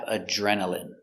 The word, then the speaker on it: adrenaline: Next we have adrenaline. Adrenaline. Remember, INE here is pronounced in.